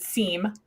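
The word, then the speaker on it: SIEM: Josh just said Sim some of you pronounce it seem right and what he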